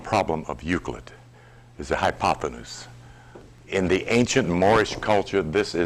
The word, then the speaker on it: hypotenuse: I've been spending all week pronouncing that word. Hypotenuse. It used to be called by me hypotensus.